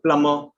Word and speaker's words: plumber: It can also be silent if it is after M in certain words where it is in the middle of the word. For example, climber, plumber.